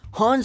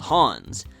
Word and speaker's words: Han: a is pronounced Leia Han Solo should never be called Hans Grievous is mischievous Anakin